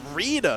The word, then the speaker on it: Reader: It's pronounced Reader, not Raider.